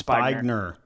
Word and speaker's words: Spigner: So Aaron, is it Spigner? Is that how you say it? It's Spigner.